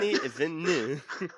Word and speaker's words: Denis Villeneuve: I had to Google someone on YouTube how to say Denis Villeneuve because I wanted to say it like with the correct accent. Denis Villeneuve.